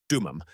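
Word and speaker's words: דומם: The Hebrew word that exactly defines what is happening to you is dumam. Pronounce it with me in a low voice wherever you are.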